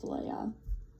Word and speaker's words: Leia: 5, it is pronounced Leia. Shame on me. Shame on General Dodonna for ever pronouncing her name like that.